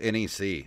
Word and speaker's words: NEC: for hudson soft and licensed by is it neck or nec i think it's just nec that's the way that he's always pronounced it just nec it would be it'd